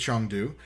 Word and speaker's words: Chengdu: Chengdu should be, and yes, it is Chengdu. Yes, because just Chinese translation. Because Chinese pronunciation and English speaking.